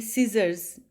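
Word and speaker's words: scissors: जैसे कि सीजर्स, सीजर्स में सी नहीं बोला जाता, सीजर्स की साउंड आती है.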